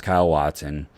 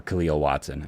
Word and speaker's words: Khalil Watson: And yeah, two years ago was Kyle Watson. or Khalil Watson. I kept saying it wrong.